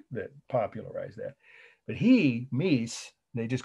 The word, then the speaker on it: Mies: was sullivan that that popularized that but he meece they just called me so you just write